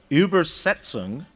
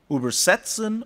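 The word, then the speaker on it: übersetzen: it even more explicitly depending on pronunciation a single word with the same spelling can mean either to translate or to traverse uber setzen or uber setzen every work of translation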